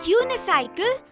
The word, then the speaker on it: unicycle: The word unicycle begins with a consonant sound u.